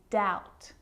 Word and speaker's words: doubt: plumber and the letter B is often silent when it before the consonant T so think of these examples subtle depth and doubt so seeing all of